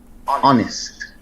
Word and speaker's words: honest: And the first letter silent in honest and rap.